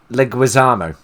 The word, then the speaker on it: Leguizamo: that I didn't say it right either no Leguizamo thank you and John Leguizamo and Bob Hoskins